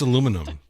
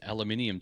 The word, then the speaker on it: aluminium: Well, the funny thing is, what's aluminum? Is this How do Americans say banana nanner? Um, but that's the thing. It's like, so the other day someone said aluminium to me and I didn't even know how